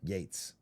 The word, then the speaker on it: Yates: Yates. Like Bill Gates, but it's Bill Yates is what you're saying.